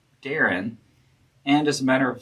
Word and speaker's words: Dahron: rho and da on d a h r o n Darren.